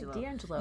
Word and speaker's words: DiAngelo: Robin DiAngelo. Did I say her name right? DiAngelo.